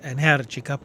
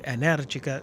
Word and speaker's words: Energica: Yes, I've figured out how to pronounce Energica properly, with the stress on the second syllable after watching an interview with Energica CEO Livia Cevolini.